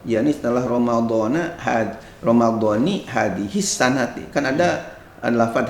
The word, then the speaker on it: Ramadhani: Ya, ini dijelaskan di dalam kitab I'anah ini bahwa dibacanya lafaz Ramadan itu dengan kasroh nunnya karena diidofatkan kepada isim isyarah, yakni setelah Ramadhani hadihis sanati, kan ada lafaz hadihis sanati.